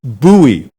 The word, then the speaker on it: Bowie: b-o-w-i-e is that bowie or bowie no it's pronounced buoy so say bowie and people will know you're